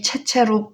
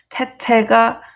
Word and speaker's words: 棣棣: 채짠데 익숙하다는 뜻이 있어요 익숙하다 그러면 태로 읽어요 그래서 위 테테라 이렇게 또 읽고 체체라도 그냥 읽어요 채나 테나 발음이 비슷해서 저희도 이제 배울 때 위 체체로 배우긴 했어요 근데 또 어떤 발음은 몸은 태태라고 나와 있어요 그래서 태태가 맞아요 원래는 익숙하다 하면 익숙할 테거든요 그래서 뭐 보통 그냥 채채라고 읽기도 해요 괜찮아요 그리고 가릴 선